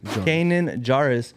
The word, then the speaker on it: Kanan Jarrus: Yes, Kanan Jarrus. Look at you getting it right on the first try. Even pronouncing the name right and everything.